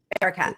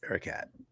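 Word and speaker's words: Erakat: How do you pronounce her name? Ericat. Yes. Ericat.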